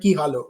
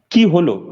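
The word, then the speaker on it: কী হলো: The entire state of Bengal went ki halo, right? Because is it ki halo or ki hoilo? How do you say what happened in Bangla? Kiholo.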